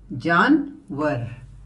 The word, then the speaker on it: जानवर: तो आप इसको लिखते हैं JANWAR। इसका प्रोनाउंसिएशन ऐसे होगा, जानवर। तो पहला जानवर है कुत्ता।